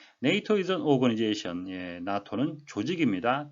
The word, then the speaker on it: NATO: 네이토, 잘 아시는 북대서양 조약기구 North Atlantic Treaty Organization의 약자인데요. 우리말 표기는 나토라고 하니까 발음에 유의하셔야 되겠습니다. 네이토. NATO is an organization.